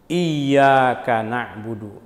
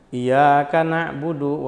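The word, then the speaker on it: إِيَّاكَ نَعْبُدُ: eh tasdid-tasdidnya harus benar terutama dalam kalimat iyaka iyaka na'budu jangan iaka nabudu wa iaka Nain banyak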